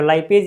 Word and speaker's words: लाइपेज: जो लाइपेज या लिपेज भी बोलते हैं कभी कभी इसको, ठीक है, जैसा मतलब प्रोनाउंसिएशन जो भी हो, ठीक है ना, आप देख लेना।